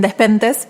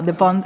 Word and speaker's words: Despentes: Nosotros lo conocemos como Virginie Despentes, pero Despentes es en realidad como se pronuncia correctamente su apellido en francés.